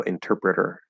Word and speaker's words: interpreter: super short and then that last t is going to be a flat d because it's between two vowels at the start of an unstressed syllable so interpreter interpreter interpreter interpreter interpreter